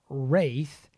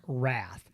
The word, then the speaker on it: Wraith: don't see the eye it looks like wrath but it's got an eye in it and it's wraith so a lot of guys call to go i don't know how to say this wraith wrath it's the wraith so we got the